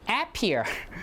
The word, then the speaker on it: appear: Do you say appear or do you say appear? Appear, right? So the stress falls on the second syllable.